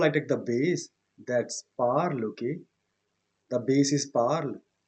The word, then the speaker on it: parle: Je parle. But keep in mind that I am not pronouncing the ending e, but I have to write.